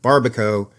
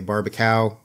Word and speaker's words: Barbakow: the hard one it's my last name which is pronounced Baro although rarely do people get that right they usually say barbacow based on the spelling or I'm oh I